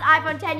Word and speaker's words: iPhone X: as the iPhone X it is spelled iPhone X pronounced iphone 10 you guys I am